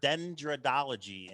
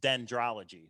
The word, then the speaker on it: dendrology: This solved has the word dendrodology in it. Actually, let me look that up and make sure I'm saying it right. Actually, it's dendrology.